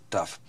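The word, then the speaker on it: ταυ: uppercase D it's uh it's a modern Greek it's pronounced tough you can pronounce it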